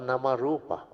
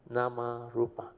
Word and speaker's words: Namarupa: That's why the fourth link is Vijnanam Pachya Namarup or Namarupa. Namarup is a Thai pronunciation. Namarupa.